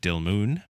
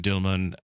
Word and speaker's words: Dilmun: traded out of Dilmun, which I may be mispronouncing, Dilmun, maybe? Yeah, U as in tube.